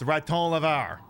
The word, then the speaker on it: raton: By the way, I did confirm that um raccoon in French is indeed pronounced raton.